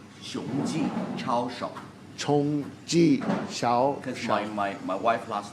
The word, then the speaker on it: 熊记: Chongji Xiao.